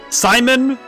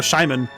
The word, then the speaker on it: Shimon: Why did they spell Simon with an H? It's a silent H and they go Shimon. Is it Shimon? Maybe it's just Shimon. It's like... you have to say SH every time.